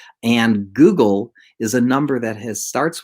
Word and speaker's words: googol: So, for example, there's the number Google, which is spelled Googol, and Google is a number that starts with a 1 and then has 100 zeros after that.